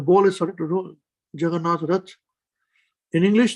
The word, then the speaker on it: Jagannath: is starting to roll jagannatha in english the word juggernaut is actually a mispronunciation of jagannath juggernaut the perfection is